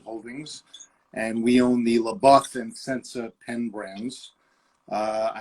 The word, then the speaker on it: LeBoeuf: But now we're here with Sensa and LeBOEUF, which we're really excited about. Yeah. Okay. So that's how you pronounce it, LeBOEUF. LeBOEUF.